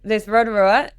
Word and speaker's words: Rotorua: No, so there's Rotorua in the North Island, which is actually pronounced Rotorua, and then there's one down the South Island called Lake Rotorua.